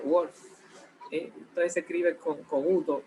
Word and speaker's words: Wolff: Suena un poco como a lobo en inglés, ¿verdad? Wolff.